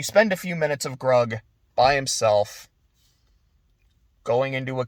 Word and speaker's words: Grug: he's like you know hug it rhymes with grug it's a really sweet moment and then he eats her and then he's by himself and you spend a few minutes of grug by himself going into